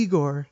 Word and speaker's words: Igor: And then he goes, so you must be Igor. And he's like, no, I'm afraid it's called Igor, sir.